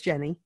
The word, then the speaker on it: Genie: It's spelled like Genie, but it's Genie.